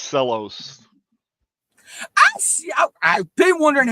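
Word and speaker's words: Cella's: stock it with covered cherries oh and it's pronounced cellos I see I've been wondering how that's said I love those cherries yeah they're they're called cellos c l l oos now you can really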